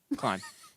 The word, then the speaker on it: Klein: Klein. Klein. You You're actually said it Jared right the Klein. first time. Usually people say clean right away, but I corrected myself, didn't I?